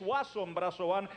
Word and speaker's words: Wason Brazobán: francisco que conste que yo sé que es wason brazobán lo que pasa que aquí pusieron wason con acento en lado pero yo dije usted